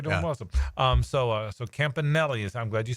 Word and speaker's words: Campanile: aome um so so Campanelli is I'm glad you said that so Campanelli is how you say it so that is the